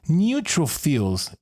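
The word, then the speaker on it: neutrophils: Neutrofils. Oh, I was very far away of the correct pronunciation.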